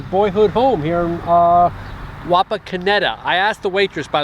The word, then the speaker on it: Wapakoneta: ballin i want to make sure i was pronouncing it correctly and she said it's both wapa kenita and wapa kineta but i think most of the locals call it wapa kineta correct but uh yeah this is his boyhood